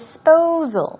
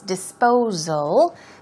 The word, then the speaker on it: disposal: spree now disposal dis disposal the S is pronounced with a z sound so it's disposal means to dispensation is